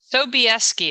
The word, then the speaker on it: Sobieski: Sobieski. It's completely phonetic. Oh, Sobieski. Well, I would not have guessed. Perfect. Wonderful. So we have special guest Sobieski with us on the show today.